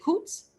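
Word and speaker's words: Coutts: Is it Coots? Coots, perfectly pronounced here.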